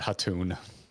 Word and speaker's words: Khaltun: I believe we were pronouncing that Hatun. Which one? Which word? The KH word. Oh, yeah, right. There's no K. I believe, yeah, it was Hatun.